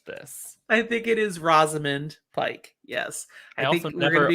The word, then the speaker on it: Rosamund Pike: and we've established this i think it is rosamund pike yes i think i've never opened my second